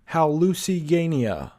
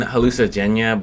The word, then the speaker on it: Hallucigenia: Here's actually how you pronounce the word. Hallucigenia. Hallucigenia. Hallucigenia. Hallucigenia. Yeah. And it sounds weirder than hallucigenia, but Hallucigenia is how you say it.